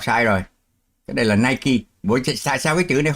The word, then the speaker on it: Nike: Vậy chữ ở dưới phải đọc là night. Mới đúng với cái phát âm ở trên này, hay và night. Không, Nike.